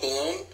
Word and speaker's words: Baloun: Chief balone is I is that how you pronounce it balone like a balloon he's actually out of